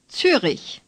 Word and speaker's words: Zürich: Zürich. Say Zürich. The Ü is like the Ü in Düsseldorf, only a little bit longer.